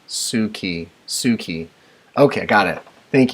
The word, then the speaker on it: Suki: You are so positive and easy to follow, and it's pronounced Suki.